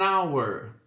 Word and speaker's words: hour: E an hour. Hour. Ali também tem som de vogal. Por quê? Porque o H é mudo, né? Tem som de vogal.